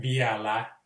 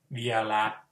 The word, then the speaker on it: vielä: So the Finnish word for still, as in the still time, is vielä, V-I-E-L, ei vi umlaut, vielä.